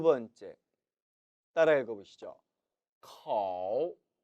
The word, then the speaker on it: 口: 口口 절대 코로 발음하지 마세요. 중국어에는 오라는 모음이 없습니다.